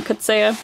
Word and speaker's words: Coetzee: And if you want to correct me on my pronunciation, that's cool, but I had a university professor call him J.M. Coetzee, so I'm gonna call him J.M. Coetzee.